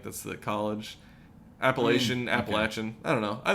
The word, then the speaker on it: Appalachian: that they were filming and uh you say appalachin yeah that's how you pronounce that I don't know I always say it cuz it's like appalachin State like that's the col Appalachian Appalachian I don't know I think either way